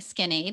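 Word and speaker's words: Skinade: Skin Aid, like kind of like Spell that for Gatorade.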